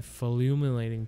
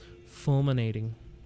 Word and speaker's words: Fulminating: it's a whole struggle i didn't sell my fluminating potion how do you pronounce that fulminating greeting fun to use better to sell a